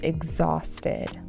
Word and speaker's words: exhausted: But behind the photos, he was exhausted. Exhausted. This is uh has a stress on the second syllable.